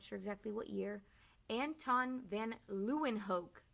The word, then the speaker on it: van Leeuwenhoek: 1680s we're not sure exactly what year anton van leeuwenhoek say that with me van luenhoek a dutch so he's also from holland they're